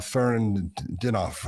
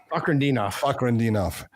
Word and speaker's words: Fakhretdinov: He's also got the win against Renat Fernandinov. I can't think how to say his name. Fakhretdinov.